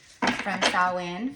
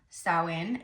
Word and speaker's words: Samhain: We are just a few days from Samhain, from Halloween, and yes, it is pronounced Samhain. It is not Samhain, okay?